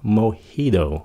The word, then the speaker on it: Mojito: Mojito. Mình có nghe nhiều người phát âm là mojito nữa, mà đa số là mojito.